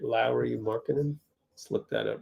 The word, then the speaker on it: Lauri: It's pronounced Lowry, like Mike Lowry.